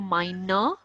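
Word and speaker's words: meine: Hauser okay whether he whenever there is e at the end of any word there would be sound sound of oh so minor okay second thing sound of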